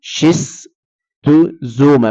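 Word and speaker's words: Schistosoma: ولما بنطقها بقول شيست زوما، بنطقها زد عشان الواقع بين حرفين متحركين، مش مهم.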